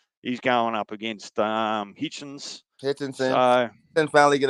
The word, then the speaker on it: Hitchens: I've seen it Hitchinson. pronounced. It's I've called. seen it. His name is Richardson Hitchens.